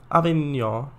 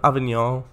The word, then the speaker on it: Avignon: tgv from marseille to avignon i hope that's how it pronounced um in france without pronouncing the n at the end yes i just wanted